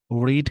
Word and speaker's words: read: Form same होता है, रीड का तीनों फॉर्म सेम होता है। बस प्रोनाउंसिएशन बदल जाएगा। इसका प्रोनाउंसिएशन हो जाएगा रीड का रेड और रेड, V2 V3 का।